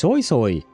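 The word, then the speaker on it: Sui: Yeah, to me it sounds like she's saying soy, just like soy sauce, but uh you know, and then it's written s UI.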